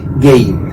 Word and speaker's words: Gein: Estoy hablando de Ed Gein, o Gein, como algunos lo pronuncian, acaso es lo mismo. La Real Academia de la Lengua Española dice que está bien pronunciado tal cual dice el apellido.